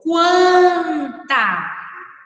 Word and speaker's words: quanta: pronunciado a letra U agora leia em voz alta esta outra palavra do texto quanta One tanta ao falar essa palavra você prova o senhor a letra u ou não pronunciou a letra u a resposta para o mousse amos a letra U tailson do ou quanta One tanta diferente de canta então nós nessa palavra quanta nós ouvimos o som da letra U